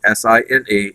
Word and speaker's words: sine: Sine is spelled S-I-N-E, and it's abbreviated because mathematicians are really, really busy and can't be troubled to write all four letters, so it's abbreviated with S-I-N, and we say sine.